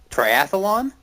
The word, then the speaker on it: triathlon: Triathlon. Yeah, it's triathlon. There's no extra vowel in there.